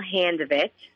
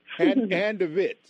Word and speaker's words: Handevidt: go for it now this is hand ofit is how you say my last name hand ofit yes you got it